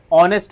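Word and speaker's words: honest: ऑनेस्ट में जो होता है एच हमारा साइलेंट होता है। ऑनेस्ट को जब प्रोनंसिएट करते हैं तो ऑनेस्ट [गला साफ़ करने की आवाज़] नहीं होता है। क्या होता है? ऑनेस्ट होता है।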